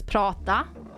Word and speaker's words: prata: Like, for example, the word for speaking in Swedish is prata. And if you put two T's, it's you spell it P-R-A-T-A, but if you put two T's, you would pronounce it prata instead, which is not a word.